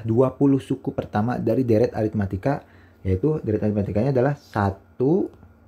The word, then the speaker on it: aritmetika: memakan waktu yang lama ingat ini bacanya aritmatika apa ini adalah deret aritmatika ya karena terbentuk dari barisan